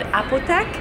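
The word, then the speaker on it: Apotheke: But we're at this place called Apothec. That's how you pronounce it. The bartender told me.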